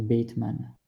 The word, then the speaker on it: Bateman: Mec, ça se prononce Bateman, ok? Il y a un E, mec. Bateman.